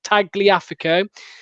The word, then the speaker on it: Tagliafico: I'm trying to work out how this guy told me to pronounce it. Tagliafico.